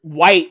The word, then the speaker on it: Wight: Paul Wright, isn't it? Paul White. It's White, but it's spelled Wight.